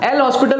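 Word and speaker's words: L'Hôpital: में ए जाते हैं एल हॉस्पिटल रूल है ना लॉ पीतल रूल जो भी आप प्रोनाउंस करते हो अब बच्चे क्या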